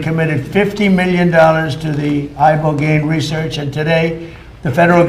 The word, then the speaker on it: ibogaine: Ibogaine. Remember the name. Is that pronounced relatively properly, would you say? Yes. I don't want to get it wrong.